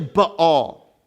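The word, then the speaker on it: Baal: understand where we're going so let's talk about bail for a second bail is not how you pronounce it all right it's how everyone pronounces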